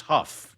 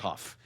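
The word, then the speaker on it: Haugh: Please, it's Huff, by the way. It's not Haw. It's spelled the same as Haw. Oh, okay. Pronounced Huff.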